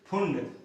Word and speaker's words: Pfund: तो ये लाइमन हो गया, ये बामर BALMER, फिर पास्टन, स्पेलिंग में देख रहा हूं PASCHEN, फिर ब्रैकेट BRACKETT, फिर फुंड PFUND, फुंड।